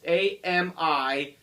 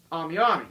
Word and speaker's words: AmiAmi: If you don't know what AmiAmi is, it's AMIAMI. AmiAmi. If that's how I pronounce it, some people may pronounce it differently, whatever.